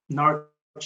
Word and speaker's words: Norwich: Norwich is spelt with a W, but you don't need to pronounce the W.